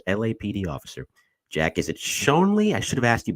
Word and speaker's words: Schonely: points for this is it shley in the pronunciation it's Shanley Believe It or Not Mike it's Shanley it's uh it's German and but a lot of people say I've got a lot of pronunciations